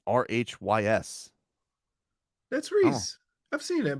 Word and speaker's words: Rhys: not the y is it's pronounced like i yeah jackass you know